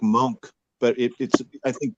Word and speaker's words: Moench: That was that Bill Mantlo and Michael Golden or something, or maybe Doug Monk. It was good. Yeah. I always thought it was pronounced Moench, but now I hear people pronounce it that